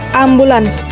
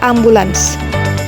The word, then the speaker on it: ambulans: Selanjutnya yaitu ambulans. Sering kita dengar dari masyarakat, ambulans itu bacanya ambulan, padahal yang benarnya ambulans.